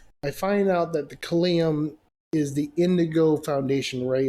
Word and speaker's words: Kalium: So before I continue with that, further introducing myself, Kalium, the Azurite King, Kalium, that's how it's pronounced, Kalium, Kalium.